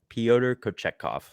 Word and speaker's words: Pyotr Kochetkov: I still struggle to pronounce it sometimes. Pyotr Kochetkov.